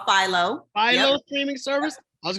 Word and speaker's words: Philo: It's called Philo.